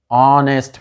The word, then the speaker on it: honest: Okay, at the same way H is a consonant, but H is silent here, saw you before. Then an honest man, he is an honest man.